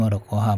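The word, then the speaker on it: ورقها: Ini warokoha bacanya, maaf. Sebagaimana bergugurannya anis sajaroti warokaha, daunnya dari pohon. Sebagaimana gugurnya daun dari pohon. Ini kenapa dibaca warokoha, karena di maf'ul ya, jadi maf'ul selalu mansub.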